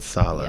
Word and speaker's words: Saleh: I don't know how you pronounce Robert Saleh. it. Robert Saleh.